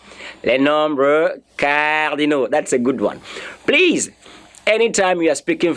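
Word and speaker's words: aux: let me hear you know that a u x is pronounced or just or just o pronounce it as o anyway you see a u x pronounce it as what o even if the X is not there it is O we're going to treat that in our subsequent classes but not now but for now just know that that is pronounced as a o and I'm sure you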